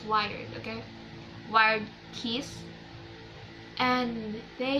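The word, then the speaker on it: Wyrd: I don't know how you say the wired, W-Y-R-D-E, but I pronounce it as wired, okay?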